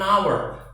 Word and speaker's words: hour: sejam 1 jam an hour an hour itu hurufnya kan H Tapi bacanya hilang haknya gak dibaca an hour jadi kayak Hnya tuh